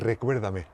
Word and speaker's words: Recuérdame: Ah, j'ai vraiment du mal à la prononcer en espagnol. Comment c'est? Recuérdame.